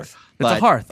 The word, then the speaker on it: hearth: still am not sure it's a hearth oh like heart with an arm essentially like a giant